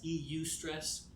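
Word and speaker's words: eustress: Eu stress. Uh, it's spelled e u s t r e ss.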